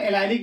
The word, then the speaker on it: allylic: और यहाँ पे एलिलिक को हम एलाइलिक बोलते हैं, एलाइलिक भी लिखते हैं और क्या लिखते हैं, एलिलिक भी लिखते हैं।